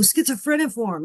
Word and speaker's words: schizophreniform: Oh, schizophreniform.